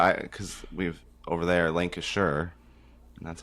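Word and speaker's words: Lancashire: Lancasher. That's how it's pronounced.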